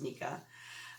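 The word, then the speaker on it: NECA: Okay, first item that I sold was a Ralphie in bunny suit head knocker bobblehead, A Christmas Story Nika, N-E-C-A. I think it's pronounced Nika.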